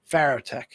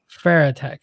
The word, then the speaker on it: Farotech: How do you pronounce that? Farotech. Farotech.